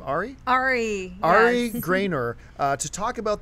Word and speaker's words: Ari: And we want to share with you right now Roth's conversation with, do you pronounce her first name Ari? Ari.